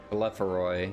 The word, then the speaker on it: Telephoroi: Business as usual for the Telephori. Okay. Telephoroi, yeah. Telephoroi, that's how she pronounced it earlier.